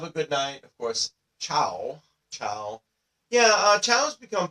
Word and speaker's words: ciao: Another thing to note in Italian, the reason we pronounce it as ciao is because C before an I or an E in Italian is pronounced like a CH.